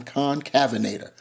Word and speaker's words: Concavenator: with me please show mercy and be gracious concavenator concavenator one last time concavenator I looked it up that is how it's pronounced anyway uh just having some fun here